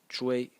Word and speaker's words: 隹: In this video, I'm going to talk about phonetics, a phonetic series that is led by the title phonetic character, which is pronounced chu, which is this big character over here.